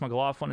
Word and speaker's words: McLaughlin: Is it McLaughlin? Chase McLaughlin is how you say it.